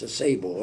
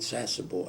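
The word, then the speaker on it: Sasebo: So we went to this I I pronounce this a sable other people call it sassable s a s ebo bo and we went in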